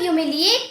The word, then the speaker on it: humiliate: यहाँ पे H silent है, ध्यान दीजिएगा। सो ह्यूमिलिएट मीन्स होता है नीचा दिखाना।